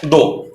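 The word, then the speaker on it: though: बचा दो, इसको दो बोलते हैं ऐसे, इसका प्रोनाउंसिएशन दो है, लेकिन आप चाहे तो दो भी बोल सकते हैं ऐसे करके, दो।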